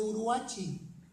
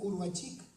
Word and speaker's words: Uruachi: privadas, como estos de Uruachi, así lo pronuncian los de Chihuahua. Yo siempre decía Uruachic, pero es Uruachi.